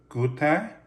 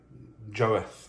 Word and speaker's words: Goethe: my googles i've been told that it is pronounced good there i've been calling it joath or giov in my head the entire time i've had